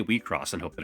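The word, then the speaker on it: WIXOSS: See, I wanted to say it's called Wixos, which just sounds weird. I did find a how to pronounce thing, which is going to be here on screen. So, I'm going to be calling it Wcross.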